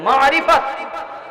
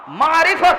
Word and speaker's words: মারিফত: সবাই আমার সঙ্গে একবার উচ্চারণ করে বলেন মারিফত। আইন আছে একটা, আইন, মারিফত বলেন, মারিফত।